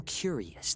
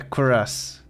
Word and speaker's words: cuirass: away, leaving a glowing curious that floats in the air. What is a curious? Oh. Oh, it's the chest part of the armor. Oh, a cuirass. A cuirass. Cuirass? It's pronounced cuirass.